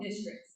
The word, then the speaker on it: DISTRX: And then, I don't know this, but we actually have an app for downtown called Districts. It's spelled DISTRX.